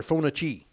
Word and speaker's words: Fauci: coming out on dr phonachi you know what i'm talking about rhymes with grouchy dr grouchy though that